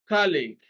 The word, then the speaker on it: colleague: the second syllable 44 a colleague stress is on the first syllable colleague be acute second syllable